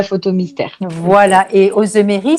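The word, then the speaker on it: Auzemery: Et Ozemery, ça s'écrit Auzem comme Marie. Ozemery, donc Ozemery.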